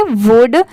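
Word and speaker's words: would: वुड। अब जैसे देखिए यहां पर तो एल दिया हुआ है।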